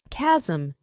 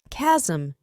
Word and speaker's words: chasm: This word is pronounced as chasm, chasm.